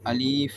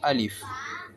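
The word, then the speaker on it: ألف: முதலாவது எழுத்து அலிப் அலிப் சிலவங்க மொழியறது அலிப் என்று அல்லது அலிப் என்று மொழிவாங்கும். அது தவறானது. நாங்க மொழியும் சரியான உச்சரிப்பு அலிஃப் அலிப் இது அலிப் லாம் பாக்கு இந்த உச்சரிப்பு வரணும். அலிஃப்.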